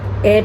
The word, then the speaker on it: heir: उसको हम एयर pronounce करेंगे HEIR, unlucky एयर of twisted bones, right.